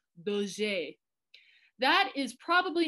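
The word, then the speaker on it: Dauger: So D-A-U-G-R, when we say it the French way, it's Daugur.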